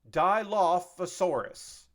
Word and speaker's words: Dilophosaurus: I also had to write down how to pronounce this. This is the Dilophosaurus. Dilophosaurus.